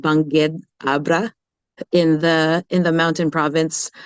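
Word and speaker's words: Bangued: from a little town in the Philippines called Bangged, Abra, in the mountain province up in the northmost island of the Philippines. And I just love mentioning that. Can you pronounce that again? Bangged, Abra. Bangged Banged, is the name.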